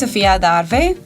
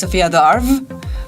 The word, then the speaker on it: Sofia Adarve: you okay so yeah my name is sopia darve I know in English we pronounce Sophia Dar but like my email